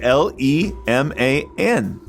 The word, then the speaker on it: Leman: But it's spelled the same way. It's spelled the same way. L-E-M-A-N. You can't spell gentleman without it. Leman.